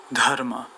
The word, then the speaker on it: Dharma: ¿Cómo se pronunciaba Dharma en la antigua India según las reglas de pronunciación del sánscrito? De esta manera. Dharma.